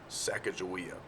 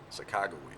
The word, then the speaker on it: Sacagawea: And number 8, who is Sacagawea, or Sacagawea, let's pronounce it the right way.